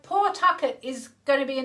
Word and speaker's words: Pawtucket: I was born in Pawtucket, Rhode Island. Pawtucket. That is such an American name. It's a bit like Nantucket, I suppose, isn't it?